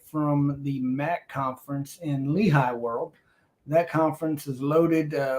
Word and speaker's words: Leahy: MAC conference there in Leahy World, or Leahy, depends on where you're from as to how you say it.